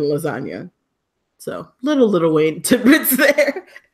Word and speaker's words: lasagna: And I like that about G's moving silent like lasagna. That was my favorite line ever, and it's still the best line ever, because you're like, oh shit, the G is silent in lasagna.